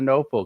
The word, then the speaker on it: Knople: We're gonna be talking about pain, pain relief, pain management with Noel.